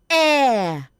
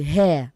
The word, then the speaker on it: air: Say air. the air that we breathe, not the hair that we breathe.